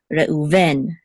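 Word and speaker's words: רְאוּבֵן: In English, I guess usually default is the accent mark is on the first syllable. In Hebrew, the default is the accent mark is on the last syllable. However, there's exceptions. I guess in both languages there's exceptions. So English is Reuben, Hebrew is Reuven, right?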